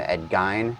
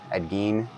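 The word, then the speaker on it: Ed Gein: And, uh, Graham, who is the guitarist from Edgy? Ed Gene. Did I say it? You're never supposed to pronounce it.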